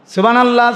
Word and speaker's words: সুবহানাল্লাহ: সুবহানাল্লাহ, সুবহানাল্লাহ, সুবহানাল্লাহ, হা কই? কথা বলেন। আর এটা বুঝি সুবহানাল্লাহ, সুবহানাল্লাহ, হা এটা কই? সুবহানাল্লাহ, তো হা এটা উচ্চারণ হবে মোটা।